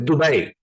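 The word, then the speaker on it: Dubai: um it is pronounced dubet I'm just saying because my mom is from there you know so we kind of learned how to say it it's an Arabic word so half my family's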